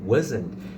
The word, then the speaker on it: wasn't: Você percebe que quando eu falo wasn't, eu não falo o T. E também no wen eu também não costumo falar o T. Eu falei aqui agora para demonstrar para você, né? Wasn't. Esse T no final, né? Porque você junta was com o not.